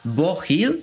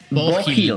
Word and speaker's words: Beau Hill: Y algo que no es menor, ¿cómo se pronuncia? Beau Hill. Bo Hill, así será. Bueno, creo el que productor, sí, Bo Hill, ¿no?